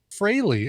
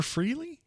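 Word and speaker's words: Frehley: going to hear ace fraley as i found out it's pronounced that's what um it was never freely it was never freely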